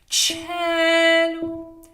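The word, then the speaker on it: caelo: Cello. So it's the chair that I'm sitting on, cello.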